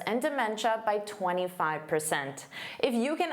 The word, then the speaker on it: dementia: So notice this is pronounced as cha, cha.